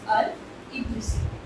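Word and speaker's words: al-Idrisi: अल-इद्रिसी एंड अब ये कौन है, इनका नाम क्या है, ये कौन है, मैंने इनकी स्पेलिंग शेयर कर दी है। इट्स गिलामी they लियाइजन एंड अल-इद्रिसी। Okay, it's अल-इद्रिसी, तो ये ध्यान रखिएगा।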